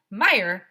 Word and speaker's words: Meyer: Meier it will be easy to remember name my name because Meyer rhymes with fire that's funny said mr.